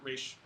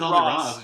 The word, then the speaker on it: Ra's al Ghul: It's funny that he pronounced it Roz. Just now, huh? And there are multiple ways of saying it, supposed but to say? I always thought it was Ra's al Ghul.